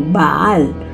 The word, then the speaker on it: Bael: rito de Anthony Hopkins pero ahí lo pronuncian como baal pero en realidad se refiere al mismo ente Y es que según los datos bael era un ángel al